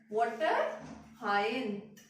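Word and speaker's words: Eichhornia: वाटर हायन, वाटर हायन। ठीक है, सी silent रहता है, जैसे कि मैं प्रोनाउंस करती हूँ, तुम लोग देख लेना अपना प्रोनाउंसिएशन। ठीक है, तो टेरर ऑफ बंगाल, तो टेरर ऑफ बंगाल क्या है?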